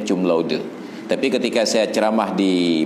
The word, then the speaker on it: cum laude: mereka tidak baca C dengan bunyi K, tetap C itu dibaca C. Maka yang wisuda yudisiumnya cum laude itu bukan cum laude, cum laude. Karena itu bukan bahasa Inggris yang C dibaca K, tetap bacanya cum laude.